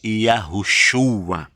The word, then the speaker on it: Yahushua: E o nome do Messias, do Filho do Altíssimo, do ungido, é Yahushua.